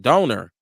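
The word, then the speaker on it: Dorner: it he said Christopher Doner he was a cop uh he's telling me even how to how to produce it I mean how to pronounce it donor donor is how it's pronounce um he said Tim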